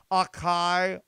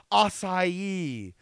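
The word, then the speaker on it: açaí: I'm sorry you enjoy what a chi oh I'm sorry I think you mean acai sorry I don't understand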